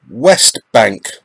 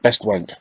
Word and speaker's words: Westbank: Westbank, not Best Wank, Westbank. Be careful how you say it.